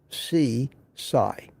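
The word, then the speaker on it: Sisay: Spelled S-I-S-A-Y, but pronounced C-Sai.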